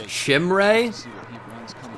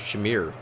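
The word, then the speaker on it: Chimere: off of an injury it's pronounced shimray I've talked about it with wheels who's a big gator fan thought it was Shamir Chim Ray all right I'll make the adjustment hson it throw the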